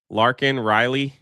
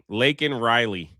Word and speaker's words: Laken Riley: Larkin Riley. Did I say it right? Make sure I get her name right. Where was your tweet? Uh, upset Laken. Laken. Sorry, sorry, sorry, sorry. I got to get that right. Laken Riley.